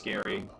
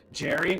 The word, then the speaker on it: Gary: Is your name pronounced Gary or Jerry? I assume it's Gary, but I knew a Gary with a G and then he pronounced it Jerry. So now I'm self-conscious. Jerry?